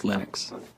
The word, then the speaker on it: Linux: linus and i really don't care how people pronounce my name but linux is always linux he developed a kernel and got it working